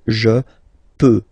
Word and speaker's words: peux: Final X not pronounced here, okay? So you've got X, but you don't pronounce it, so basically you get the sound peut, je peux, okay, so I can, je peux, okay. Then tu peux, same pronunciation and same spelling or writing, okay. P-E-U-X, okay, don't pronounce the final X.